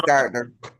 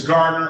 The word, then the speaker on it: Gardner: Gardner, did I get the pronunciation correct that time? Yes, it's Gardner. It's Gardner, okay.